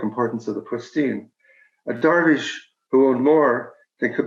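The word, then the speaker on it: درویش: of the wandering derbyshires i'm going to say darvish which is the persian pronunciation uh they had a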